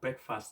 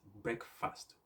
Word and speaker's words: breakfast: talk about food so people often say that breakfast is the most important meal of the day which i agree so if you look at the way i pronounce it breakfast with the air said not break fast as